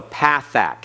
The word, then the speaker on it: pathach: It looks like a dash underneath the letters, and it has a sound of a short A, as in the English word bat. Okay, so pathach.